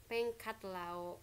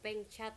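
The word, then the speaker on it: Pheng Xat Lao: Lagu kebangsaannya adalah Pengkat Lao, Pengcat atau, ya, dibacanya juga bisa Cat atau Kat, Pengkat Lao, lagu nasional Laos.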